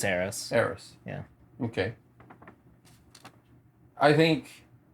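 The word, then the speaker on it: Eros: sure uh heiress aries e-r-o-s oh e-o okay euros errors how do you pronounce it i think it's harris harris yeah okay i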